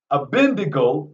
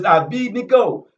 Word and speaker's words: Abednego: So Abid, Nego, Abendigo, they wanted to pronounce it Abendigo, is Abednego, is how his name is pronounced.